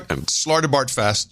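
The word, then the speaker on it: Slartibartfast: Sir Slarda Bard Fast. Yes, very important. I'm not pronouncing that right. Yes, you are. Slarda Bard Fast. You got it.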